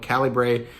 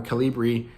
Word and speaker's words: Calibre: You're going to have to download Calibre or Calibri or Caliber, I guess is the right way to say it, and kind of run